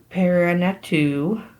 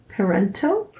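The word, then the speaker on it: Parenteau: It's probably Parento. Because the E-A-U is an O sound, like Bo. Yeah. I only know that because my son's name is Bo.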